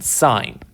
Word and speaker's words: sine: about is called sine it's spelled s-i-n-e that's the full word but we pretty much always abbreviate or abbreviate it but shorten it to s-i-n sign so there is something